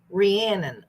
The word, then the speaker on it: Rhiannon: Oh, it sounds like Shannon. Rhiannon.